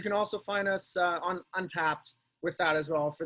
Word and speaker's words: Untappd: Untapped. Untapped. Okay, perfect. Yep. It's spelled funny. It's UNTAPPD. So it's Untapped without an E. Without the E.